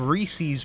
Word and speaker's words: Reese's: like left left a cup of cereal of reese's puffs right i know it's pronounced reeses but reese's reese's puffs and when i went